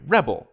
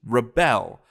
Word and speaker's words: rebel: When it's a person, they're a rebel, but the thing that a rebel does is rebel, fights back, right? The emphasis changes from the first syllable to the second, right?